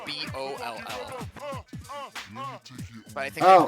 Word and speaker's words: Boll: Okay, no, it's called Sonic Boll, but like B-O-L-L. But I think they Oh, pronounce it like you bowl. Yeah, like- like you, Boll.